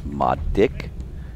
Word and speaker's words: Marek: All our members call him Marek, M-A-R-E-K, and I keep reminding them it's Madik.